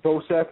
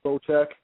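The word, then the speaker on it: Bocek: 12- two excuse me I actually thought this dude's name was pronounced bosec that's how I was pronouncing it but I I guess pronounced boek so when I watched your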